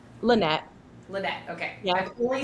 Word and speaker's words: Lenet: I was like, it can be Lena. Listen, if it's just easier, it could be whatever you need it to be. But it's officially pronounced Lynette.